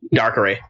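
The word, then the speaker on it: Darkrai: to get dark ray dark ray oh I said the right no it's dark R it's pronounced dark R you did it right AJ and you're the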